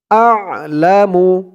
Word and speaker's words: أعلم: تن خرا زبر والله আ'লামু হামজা দিয়ে আইন ধরবে আইনের উচ্চারণটা গলার ভিতর থেকে আসবে আ'লামু দা 4 আলিফ